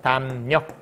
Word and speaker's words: 담력: 글자로 하면 미음 리을이네 미음 뒤에 리을 왔네 그럼 어떻게 된다고 리을이 니은으로 바로 이렇게 해서 담력 이렇게 바뀐다고 이해했어 협력도 마찬가지야 협력이라는